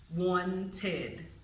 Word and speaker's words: wanted: So that last pronunciation of the ed ending occurs when a word ends in a T or in a D. So in those cases, the word takes on a second syllable.